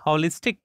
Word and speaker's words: holistic: Here H is pronounced holistic.